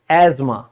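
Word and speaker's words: asthma: ना सांस की बीमारी, इंग्लिश में हम इसको क्या कहेंगे, एजमा, क्या कहेंगे, एजमा, याद रखना।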